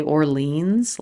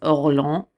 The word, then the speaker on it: Orléans: call the campaign of, in English we would say Orleans, like New Orleans, Orleans. I believe in French it's Orléans, but again, we're just gonna say Orleans because we're Americans, and I'm an American and I'm doing my best.